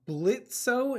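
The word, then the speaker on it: Blitzø: respect man with that sort of passion I'm Blitz the O is silent what o oh thank you now what's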